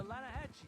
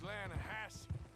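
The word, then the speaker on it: Lannahechee: no no no no no no the the lahache it runs right near here yeah but it's pronounced lanahassee why is everything in English said differently than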